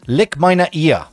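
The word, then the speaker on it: Leck meine Eier: It's lick meine ear. Lick meine ear. That's exactly how you say it.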